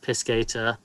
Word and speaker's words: piscator: It is pronounced piscator, according to the lexico.